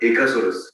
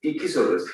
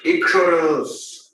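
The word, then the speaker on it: Eeksaurus: Ichsaurus, not Echosaurus. Ichsaurus. Ichsaurus. Ichsaurus. My entire team can pronounce it so easily, and it's because it's very simple. Ichsaurus.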